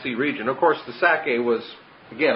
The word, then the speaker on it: Sacae: region, of course the Sacae was, again, I just picture the word Isaac, and Sacae is S-A-C-A-E. It has the syllable of sac, Isaac or Itzhak right in it.